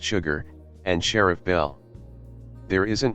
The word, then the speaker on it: Chigurh: The main characters in the film are Llewellyn Moss, Anton Chigurh, pronounced Sugar, and Sheriff Bell.